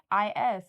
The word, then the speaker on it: mais: Yeah, it's maize, but it's not spelled the same way because you guys have a Z in there. Oh, yours maybe is it's the S? brand. Yeah, it's MAIS, mais.